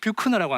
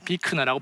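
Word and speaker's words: Buechner: 그리고 이제 이분은 프리드릭 뷰크너라고 하는 비크너입니다. 이름을 발음하기 되게 어려운 분인데 비크너라고 본인이 주장합니다.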